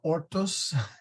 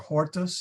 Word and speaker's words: hortus: drop his H's he likes to say orto or Autos instead of horto or hortus he really should pronounce his H uh what he's doing